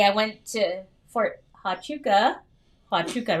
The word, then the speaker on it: Huachuca: to on saturday i went to fort hotchoka huachuca right is that how you say it not